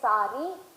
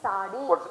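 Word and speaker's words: साड़ी: they will say sari, some places they will say sadi. Pause here. What do you say it in English? Spell it. Yes, sir. How do you say it in Hindi? Sadi. So the same product by the same people, in English you say sari, in Hindi you say sadi.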